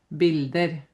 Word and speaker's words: bildet: But we do not pronounce the t. The t is silent. Okay, so we don't say bildet, we say bilde.